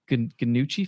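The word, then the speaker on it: Gnucci: because here's the thing: he goes after the Ganucci family. Is that how you pronounce? Yeah, Ganucci family, and they have ties to the death of his family.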